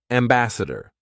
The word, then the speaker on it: ambassador: Ambassador. Let's backchain it. Dare, ambassador. Okay? Good. Very good. Ambassador. And it doesn't matter that here it was being spelt with an A.